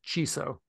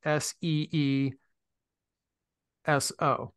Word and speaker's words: CISO: title ciso right for whatever reason voice stream pronounces it as chiso chiso so you know I can put in I type in no pronounce it as s-e-e -s-o right s-e space s o c so and